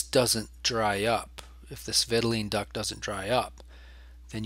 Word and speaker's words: vitelline: I learned it as vitelline, but it's often pronounced vitelin, like Ritalin. Vitelline duct or vitelline duct. There's a ton of ways to pronounce it.